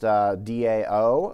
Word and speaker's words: DAO: with the database so data access object could be pronounced Dao or Dao rhymes with Cal and it is an